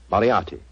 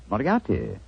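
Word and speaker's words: Moriarty: mispronounce it I'm afraid I'll have to begin calling it the way it looks m o r i a r r t y mariati mariati I shall remember that name I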